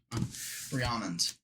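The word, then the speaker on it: Rhiannon: BR Rion uh Rihanna think of like Rihanna ranan braids as the dragon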